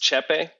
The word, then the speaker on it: Tscheppe: Let's see, Ewald Tscheppe? What is the name? It's pronounced Tscheppe. Tscheppe, okay. Yes. Beginning with a T, yes.